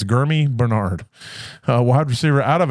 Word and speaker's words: Germie: It's spelled Jeremy. Or Gurmy. Sorry. Germie. It's Gurmy Bernard, wide receiver out of Alabama, 6'1", 206 pounds.